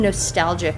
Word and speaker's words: Nostaljah: So that's why we spell it nostalgia. That's Nostaljah.